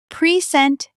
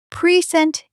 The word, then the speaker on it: present: When you stress the first syllable, present, it's a noun. It means a gift. I bought a present for my sister's birthday. When you stress the second syllable, present, it's a verb.